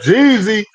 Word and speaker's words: Geezy: I was it's like, Jeezy damn, man it's Jeezy and it's spelt like this G with two yeah, E's.